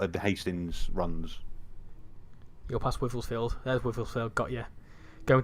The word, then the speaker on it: Wivelsfield: I always get the pronunciation this wrong. Is it Wivelston? Something like that. Wivelsfield.